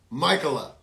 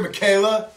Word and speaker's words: Michaela: for a girl that I pronounced her name Michela and I'm so I'm so embarrassed you might be here Michaela Michaela if that is your name uh of course it is I have a relative distant relative whose name is Michela a woman named Michela and when I saw it written I thought oh that that's pronounced Michela I know that name no it's Michaela and I know Michaela